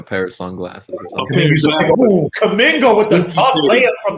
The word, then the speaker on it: Kuminga: Johnathon Kuminga. Kuminga, like jollof rice.